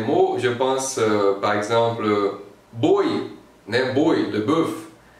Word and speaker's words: boi: Je pense par exemple boi, né, boi, le bœuf. Je vais dire boi, boi, boi, pas bois, non, boi, c'est ça.